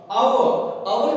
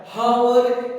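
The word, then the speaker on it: hour: अवर जब हम यूज करते हैं तो दोस्तों इसे हम प्रोनाउंसिएशन करते हैं अ से साउंड आता है, हावर, अगर आप प्रोनाउंसिएशन करते हैं हावर करके तो ये गलत प्रोनाउंसिएशन है, ध्यान रखना है आपको,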